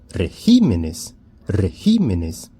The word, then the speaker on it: regímenes: O plural de régimen é regímenes, regímenes. Então, mudou a sílaba tônica do singular para o plural.